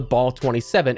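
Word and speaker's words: BAL-27: But for functional, brand new weapons, we have the Ball 27. And yes, as mentioned in a prior video, I'm sticking with that pronunciation. It's how devs have pronounced it all the way back in Advanced Warfare, how they've recently done it in dev calls and so on, so fight me.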